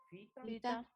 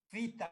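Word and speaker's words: phyta: Ustedes ya no van a equivocarse como algunos que van a decir pita. No, pita no. Fita, porque PH se pronuncia como F.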